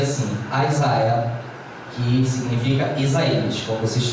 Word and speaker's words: Isaiah: Primeiro profeta maior, major quer dizer maior, primeiro profeta maior, Isaiah, se pronuncia assim, Isaiah, que significa Isaías, como vocês podem ver aí no vídeo.